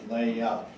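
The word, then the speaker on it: Löhe: Now, you'll notice that in German, it's spelled this way. I'm using the anglicized version that I was taught at the seminary, where it is L-O-E-H-E, Leah. And that's how we say it at Fort Wayne, Leah.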